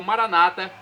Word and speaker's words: Maranata: dizemos nós católicos ou Maranata com a tônica na penúltima sílaba como dizem nossos irmãos separados os evangélicos ou protestantes não importa a pronúncio significado